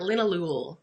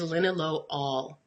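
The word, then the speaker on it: linalool: alcohol and every alcohol sounds like all at the end okay so that's why it's not lin Ahlul it is linen low all okay so so just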